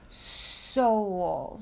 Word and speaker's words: Seoul: It's Seoul.